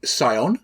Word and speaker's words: Psion: We have the Scion. Yeah. P-S-I-O-N, not S-C-I-O-n. But Poseidon. The Scientist, as it is correctly pronounced, the Scientist.